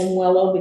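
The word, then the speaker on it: WELO: it's actually most people we call it wellow but technically the state calls it m wellow because it's model water really but yeah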